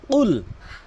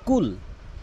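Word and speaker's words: قُلْ: এখানে রয়েছে কুল। এখানে কফটি জিব্বার গোড়া উপরে তালু থেকে উচ্চারণ করতে হয়। কুল যার সঠিক অর্থ দ্বারা হে রাসূল আপনি বলুন। কিন্তু অধিকাংশ লোক যেটি বলে কুল।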